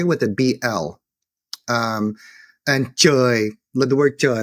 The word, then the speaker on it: trời: And trời, the word trời, like heaven could have been pronounced bloi as well, and sometimes even pronounced gloi.